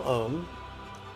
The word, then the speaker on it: om: the sixth syllable mantra the first syllable om that rhymes with home and it basically is